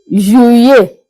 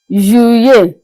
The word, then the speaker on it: Juillet: Juillet. Juillet. That's the double L. In the middle, we pronounce the double L.